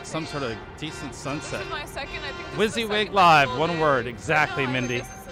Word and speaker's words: wysiwyg: if we had some sort of decent sunset wizzy wig live one word exactly mindy i guess the